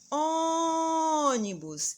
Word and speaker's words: ônibus: penúltima há mais exemplos ônibus e agora onde a gente demorou mais para anunciando o ó então vejam se fosse o bus seria última que se fosse unir seria a penúltima mas agora a sílaba tônica é o ó então ela é chamada de antepenultima mais um exemplo parabéns